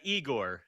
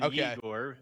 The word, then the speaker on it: Yegor: It's more Igor than Yegor Chinikov.